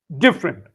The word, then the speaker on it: different: Different. Yeah. Different. The syllable is diff not uh you almost ignore the double the middle e different then chocolate.